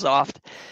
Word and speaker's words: Xoft: pronounced s kind of spelled xoft right but it's pronounced soft good question so the